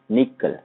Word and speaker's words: N1QL: is security language and it is basically pronounced as a nickel it is popular purple